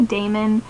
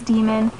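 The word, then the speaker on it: daimon: say them so like demon is spelled d-a-i-m-o-n which i always say damon and i feel like i'm always going to but it's demon yeah so it gives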